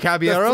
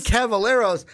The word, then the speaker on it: Caballeros: The double L is pronounced as a Y.